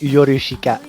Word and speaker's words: Yorushika: yeah, it is pretty much Yorushika. Yeah. And I was like, every time I pronounce it, I probably said it like as white as possible. Yorushika, you know?